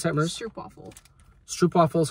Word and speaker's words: Stroopwafel: How do you pronounce that, Merce? Stroopwafel.